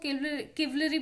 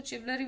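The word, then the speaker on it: chivalry: क्योंकि यहाँ पे चिवलरी का कार्ड है, देन दैट मीन्स कुछ लोग इसको किवलरी भी पढ़ते हैं, कुछ लोग इसको चिवलरी भी पढ़ते हैं। आई प्रोनाउंस दिस चिवलरी एज वेल।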